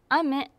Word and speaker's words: 飴: 感じですはいジャンこれをあめあめあめと言います雨ですこあめって上がるような感じでいいますこれは少し難しい